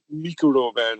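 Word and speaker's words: Microman: The entire toy line Transformers toy line came out of the Mikuro Man, as Jonathan Ross insists I pronounce it.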